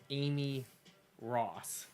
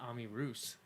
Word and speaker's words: Amy Ross: And she came back, and her friend said, you know what, they said Ami Roos. Ami Roos. So, yeah, because you look at it like, how would you mispronounce that? Unless you've never spoken ever before, you would say that's Amy Ross.